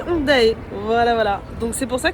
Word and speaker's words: Hongdae: Par exemple Hongdae. Là vous dites, elle le prononce bien, il n'y a pas de souci. Ben non, si vous vous souvenez au début de l'épisode, j'ai dit Hongdae.